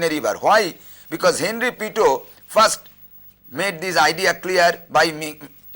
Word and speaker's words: Pitot: The T is not pronounced, so it is pronounced as Pitot, P-I-T-O-T, Pitot, but it is pronounced as Pitot.